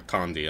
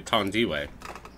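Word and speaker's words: Thandiwe: Thandi Newton is the one from 2, or Tandy. I don't know how you pronounce it. Oh, yeah, I think it's Tandy. I think it's Tandy. It's actually apparently Tandiway.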